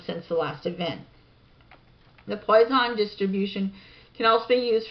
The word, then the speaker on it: Poisson: In probability theory and statistics, the Poisson distribution, pronounced Poisson, or Poisson law of small numbers, is a